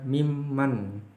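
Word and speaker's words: مِمَّن: Ini min man, bacanya mimman.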